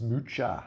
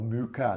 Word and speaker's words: Mucha: folio and that's Alons Mucha or Muka depending on how you pronounce it.